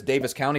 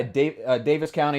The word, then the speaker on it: Daviess County: heard of so yeah davis county is spelled like davies county but i believe it's pronounced davis county from what i can